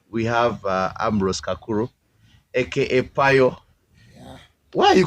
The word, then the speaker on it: Pio: Payo is spelled P-I-O, though yes. Along the way, girls started calling it Payo, P-A-Y-O.